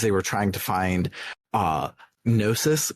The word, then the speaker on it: Gnosis: trying to find Gnosis with a silent G in English. It does not have a silent G in Japanese, apparently. Yeah, if you listen close to the voice acting and don't just tab through the box as soon as you finish reading, which is what you usually do, you might notice that they're all pronouncing it Gnosis. So, Gnosis, silent G be damned.